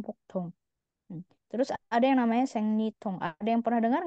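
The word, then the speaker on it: 생리통: Terus ada yang namanya sengnyitong ada yang pernah dengar enggak sengnyitong bacanya sengnitong sengnitong ini nyeri haid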